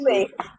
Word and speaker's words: Usui: manage their moods, train them in Usui Reiki, Yusui. Yusui Usui.